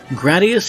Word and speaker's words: Gradius: gradius which yes officially seems to be pronounced like grad instead of grade or grad for those